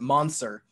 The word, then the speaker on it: Mansour: Their last name it's Mansour, but my mom would always pronounce it Mansur.